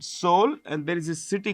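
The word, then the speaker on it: Seoul: But in which two cities highest number of passengers move in South Korea you know the capital is called soul the e is silent soul and there is a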